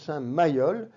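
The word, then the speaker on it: Saint-Mayeul: euh abbé de Cluny saint mailleu qui se prononce saint MAOL vous avez un cloître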